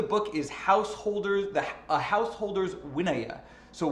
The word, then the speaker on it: vinaya: is householders the householders winaya so winaya is a word that is not spelled the way it sounds it is spelled v-i-n-a-y-a